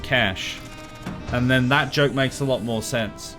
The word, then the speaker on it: cache: See, I say cache, but apparently it's pronounced cash.